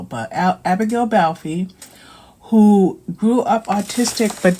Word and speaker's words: Balfe: I think it's E is a long syllable, but Abigail Balfe, who grew up autistic but didn't fully know she was autistic until later in life.